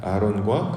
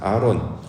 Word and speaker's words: 아론: 수 있을 것입니다 자 아론 우리가 잘 알고 있는 것처럼 모세형으로 이제 소개되고 있지요 히브리식 발음으로 원래는 아하론이라고 발음을 해야 원래 발음이 맞는데 우리 한글 성경에서는 그냥 아론 이렇게만 번역을 하고 있습니다 아론 사전적인 의미는 총명하다